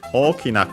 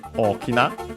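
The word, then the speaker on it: 大きい: key and then e o key accented. So the accent is on the key. Uh low high high and then low low for the E.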